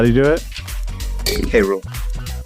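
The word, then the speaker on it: K. Rool: DK fanfiction world because he pronounced King K rule as cruel what a K rule say it with me say K and say rule Cru sorry I miss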